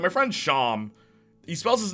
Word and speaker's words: Shyam: My friend Sham spelled his name S-H-Y-A-M, and everyone pronounces Shyam. But then one teacher pronounced it right, and Sham lost his mind.